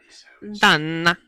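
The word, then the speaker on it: Dunne: Done. Like Donna, but without the... Yeah. Oh. I think he was just French and he just said it with like Valid. Okay. Anyway, so done.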